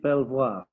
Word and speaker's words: Belvoir: 1067 and named it belvoir the local anglo-saxons just called it beaver which is why we still pronounce it like that today my family name is